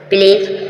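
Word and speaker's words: pledge: उसके बाद जी है आप डी को साइलेंट कर दोगे व डी का उच्चारण नहीं करोगे इसी प्रकार आपने देखा प्लीज प्लीज मतलब होता है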